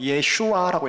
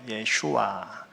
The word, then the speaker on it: 예슈아: 그럼 예수라는 단어도 실은 원어적으로 읽으면 어떻게 읽어야 되느냐면 예슈아라고 읽어야 돼요. 예슈아. 그러니까 영어로 지저스를 하죠.